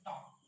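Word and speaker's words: talk: जैसे टॉप, टी ए एल के, यहाँ पर भी एल क्या है, साइलेंट।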